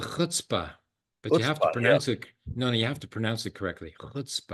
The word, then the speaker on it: chutzpah: In Yiddish, it's called chutzpah, but you have to Chutzpah, pronounce it.